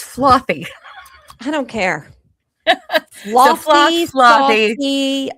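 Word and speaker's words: Flothe: His name is actually pronounced Flothy.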